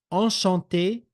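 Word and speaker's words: enchanté: that you see here now is there a difference in pronunciation Shante Shante no the only difference here is in the spelling all right and then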